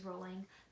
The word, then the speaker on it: Rowling: Although she stopped correcting people, the correct pronunciation of her last name is Rowling, thus the nickname the Rolling Pin.